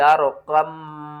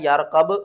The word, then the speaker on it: ارْكَب: فِي مَعْزِلٍ يَا بُنَيَّ ارْكَب معنا، بہت سے لوگ پڑھتے ہیں یارقب معنا، اس کے ہجے